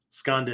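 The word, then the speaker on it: skandha: called the five skandas skanda is spelled s-k-a-n-d-h-a skanda right which means again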